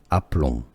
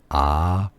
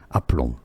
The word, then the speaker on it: aplomb: French pronunciation is as aplomb, aplomb, with a silent B at the end, yes, because it's French. The last letters are often not pronounced in French. Aplomb.